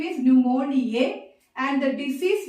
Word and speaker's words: pneumonia: And here only A will come, E will not come here, because the organism name is pneumoniae and the disease name is pneumonia. The P is silent.